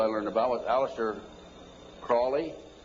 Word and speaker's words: Crowley: learned about with Aleister Crowley he likes to have his name pronounced Crowley to rhyme with holy and the Satanists today